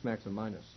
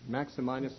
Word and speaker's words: Maximinus: I don't know if it's Maximinus or probably it's Maximinus. That's how I'll pronounce it, I guess.